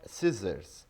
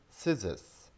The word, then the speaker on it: scissors: So this is not scissors, this is scissors, scissors, scissors. A pair of scissors is normally spoken.